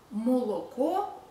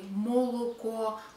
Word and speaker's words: молоко: Молоко, we don't say молоко, neither we say молоко, we say молоко.